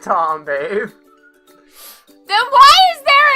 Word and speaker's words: Thom: His name is pronounced Tom, babe.